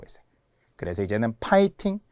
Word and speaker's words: 파이팅: 자, 이제 파이팅. 대부분 우리가 화이팅이라고 하잖아요. 그러나 F입니다. F는 100% 피읍이라고 했어요. 그래서 이제는 파이팅.